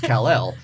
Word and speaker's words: Kal-El: take him to the vet to hear people pronounce his full name which is kal-el because I'd always get its Carroll so yeah that's real name is Adelaide Rhys